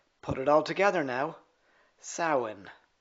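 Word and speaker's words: Samhain: Break it in two. The first syllable is sa. That rhymes with cow.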